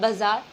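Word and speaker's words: bizarre: इस वर्ड का प्रोनाउंसिएशन होता है बाजार, जिसका मतलब होता है विचित्र।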